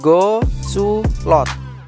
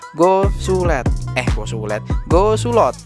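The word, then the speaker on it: Go Soe Loet: Ya, yaitu Go Sulot. Ini bacanya gitu ya. Go Sulot.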